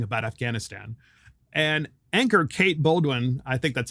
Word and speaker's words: Bolduan: And anchor Kate Bolduan, I think that's how you say her name, Bolduan or something like that. It's Bolduan. Sorry, Kate, if I got your name wrong.